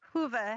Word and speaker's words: Whova: The application called WOVA, is that how you say it? WHOVA? Hoover. Hova. Hoover. Hoover, as in who.